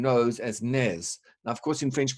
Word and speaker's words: nez: someone your nails is blocked so you deliberately pronouncing nose as Nez and of course in French we don't pronounce